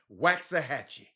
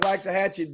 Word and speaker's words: Waxahachie: Jimmy, I learned how to pronounce their name last night. Waxahachie.